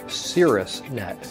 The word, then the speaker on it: Caerusnet: can result in warmed up referrals so it's pronounced Cirrus net Cirrus was the Greek god of opportunity and